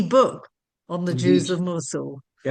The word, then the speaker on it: Mosul: Mosul. Musulim.